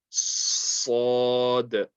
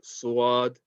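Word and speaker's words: ص: They might say like suad. Okay. Now that's incorrect. You don't want to put any kind of W sound in this. Okay. There's no W sound at all in this letter. You don't want to say suad. That's incorrect. Make sure that you're just saying sad, sad.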